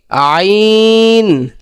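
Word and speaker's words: عين: আইনটা উচ্চারণ করতে হবে একদম স্বাভাবিক। যে আমাদের মাঝখানে যে কণ্ঠনালী আছে, হলকের যে কণ্ঠনালী, ওই মাঝখান থেকে একটু চাপ দিয়ে কি করতে হবে? উচ্চারণ করতে হবে। যেমন কি আইন, আইন।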